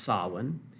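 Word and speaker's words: Samhain: of the Agricultural season um it's called um sawin which I know looks like Sam ha here s m h a i n but it's pronounced Sinn um that means the end of summer and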